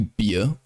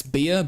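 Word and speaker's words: Bier: pronounce beer in German in German it's literally beer it's beer but it's spelled b-i-e-r it's like that um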